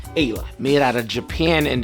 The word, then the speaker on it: Aella: before saying hey lou it's pronounced ayla made out of japan